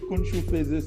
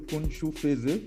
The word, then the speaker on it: Kounjou Feze: Oui, Kounjou Feze, c'est bien prononcé. Kounjou Feze, voilà, c'est ça.